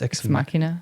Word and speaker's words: Ex Machina: Did you see I think it's pronounced Ex Machina.